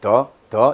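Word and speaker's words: 的: 근데 중국 발음으로는 어떻게 돼요? 한번 해볼까요? 예, 더 이렇게 되죠. 예, 성조가 없어요.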